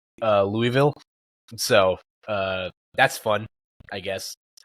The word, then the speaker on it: Louisville: The Louisville Regional Championships took place in. So how do you pronounce it? I say Louisville. Louisville. That's how I do it. I usually just say Louisville.